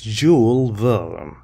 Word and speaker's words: Jules Verne: written by Jules Verne I believe this name is French he is a French writer it's not English and it is pronounced as Jules Verne it's an adventure a